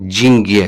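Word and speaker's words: деньги: इसका जो प्रोनाउंसिएशन है इस तरह है जिंग्ये, लेकिन स्पेलिंग है डिंग्ये। ठीक है।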